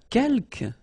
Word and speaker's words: quelques: Quelques, you don't pronounce the final s here.